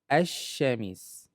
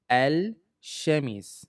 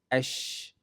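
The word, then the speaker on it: الشمس: Originally it's supposed to read al, al-shamis. However, sh is considered a sun letter. Therefore, it drops or it took over the sound of the L. So it's pronounced as ash-shamis.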